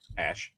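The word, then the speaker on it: Ashe: Ash well, his cat's name is spelled A-S-H-E, so I don't know if it's Ash or Ashy or Ash. How do you pronounce it, Jason?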